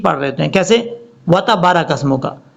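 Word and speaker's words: وتبارك: وَتَبَارَكَ اسْمُكَ، حالانکہ با کے آگے الف ہے، اس کو لمبا کر کے پڑھیں گے۔ کیسے؟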